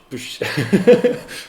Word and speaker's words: pwsh: Push. How do you pronounce it in English?